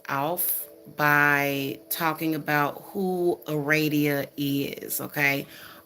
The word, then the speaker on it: Aradia: by talking about who aradia is okay or you can pronounce it eradia is you know maybe you can pronounce it like that but i wanted to